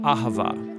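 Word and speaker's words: אהבה: languages as it is in ancient Hebrew it's pronounced AA it most basically refers to the kind of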